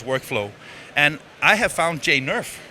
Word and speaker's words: Jane Nerf: is of course workflow and I have found Jane nerf right is that the correct pronounced absolutely Jane tell tell a little bit